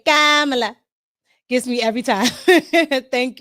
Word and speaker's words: Kamala: Her name is Kamala.